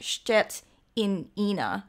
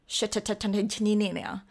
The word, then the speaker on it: Shchetnina: So it's pronounced like Shchetnina, not Shchetnina.